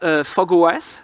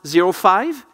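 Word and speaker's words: fog05: aware of them Eclipse fog OS so it's pronounced zero five no it's written zero five is pronounced fog OS this is what happens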